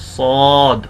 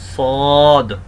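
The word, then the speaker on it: صاد: হরফটি কে বলা হয় সদ সদ সদ একটু আগে আমরা উচ্চারণ করেছি যা এবং সিন ঠিক একই জায়গা থেকে সদ উচ্চারণ হবে জিহ্বার আগাকে দুই দাঁতের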